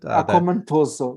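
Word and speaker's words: Akoma Ntoso: And it's that is compliant with Akomontoso, I think is the way you pronounce it. Akomontoso, yes.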